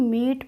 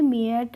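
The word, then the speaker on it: meat: नहीं पढ़ेंगे ऐसे ही एमई एटी को हम मीट पढ़ेंगे मियट नहीं पढ़े और पीई ए को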